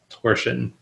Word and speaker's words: torsion: uh i and i i checked english language dictionaries in multiple countries and not one of them has the zh sound listed as an acceptable pronunciation it's always just torsion and that's it beautiful now you just